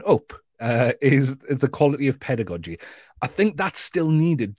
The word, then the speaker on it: pedagogy: The teacher still needs the pedagogy, okay? I know some people pronounce it pedagogy, especially if you're in the States. I'm gonna say pedagogy.